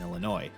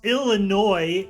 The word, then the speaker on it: Illinois: the Upper Midwest monagle please stop pronouncing the s in Illinois otherwise awesome stuff thanks